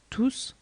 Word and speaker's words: tous: In pronoun tous, the S is never silent and always pronounced like CCD or double S.